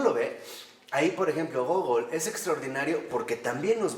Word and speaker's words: Gogol: ¿Gogol se escribe Gogol Gogol. o Gogli? No, Gogol. Gogol. Así, G-O, acento, G-O-L.